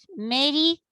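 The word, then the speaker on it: Merikare: Que se llama Las enseñanzas America Re. En algunos, si ustedes buscan en internet, lo pueden encontrar como Mericare, pero en realidad se escribe separando como que en sílabas. Es Meri-K-Re.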